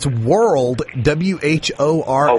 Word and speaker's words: whorled: It's World, WHORLED, World, like you'd whirl something around, and then Phyllotaxy.